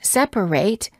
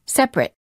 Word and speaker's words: separate: and nouns for example the ate ending of the word separate is pronounced eight if it's a verb as in separate and it when it's a noun as in separate word pairs for practice